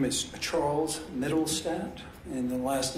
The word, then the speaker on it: Mittelstadt: case okay he swears my name is charles middlestadt and the last name is spelled m-i-t-t-e-l-s-t-a-d-t and my occupation is i'm a